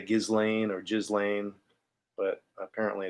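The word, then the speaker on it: Ghislaine: with this case with galen you could say gizlane or jizz lane but apparently it's pronounced gallane that sounds better to me the weird thing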